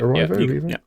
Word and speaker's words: Erivo: Is that how you pronounce it? Erivo?